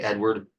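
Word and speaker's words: Eadweard: think it's actually pronounced Edvard um but most people just say Edward mybridge um he was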